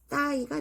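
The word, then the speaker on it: thigh: 아, 난 갈비사라고 요거 그게 바로 어, 발음이 여기가 th가 혀를 내밀어. 뜨. 그다음에 얘가 아이가 발음나고 GH는 소리가 나지 않아요. 그래서 따이가 됩니다. 따이. 어, 그리고 이제 저는 이거를 잘 기억했으면 좋겠어요.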